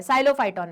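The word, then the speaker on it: Psilophyton: ये इवॉल्व हो गया साइलोफाइटोन में, पी साइलेंट है, साइलोफाइटोन में, और वहां से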